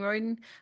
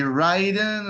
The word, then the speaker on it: Royden: You are one of the first that has said it perfectly. Oh, well, It's usually Ryden or you're all out to lunch, but you're that on Royden.